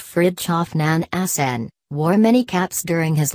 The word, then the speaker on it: Fridtjof Nansen: the 19th 20th centuries Fridtjof Nansen pronounced Fritjof nan hacen wore many caps during